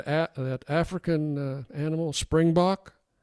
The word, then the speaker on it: springbok: that African uh animal Springbok springbuk springb springb well the is the way they pronounce it we would say spring buck in America okay okay so that's